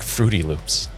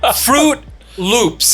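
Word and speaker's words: Froot Loops: No, like Fruity Loops. Swear to God. Only you would say Fruity Loops. Fruit Loops. Fruit Loops. And it's spelled F-R-O-O.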